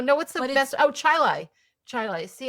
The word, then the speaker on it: Chili: Oh, Chilai. Chilai. Ch H I L I. How do you pronounce that?